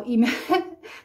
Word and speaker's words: И: Как я уже сказала, имя произносится сначала, имя произносится, начиная с фамилии, да, там в загранпаспорте и на русском языке фамилия моего мужа звучит как Ли, но здесь произносится как И, да, то есть это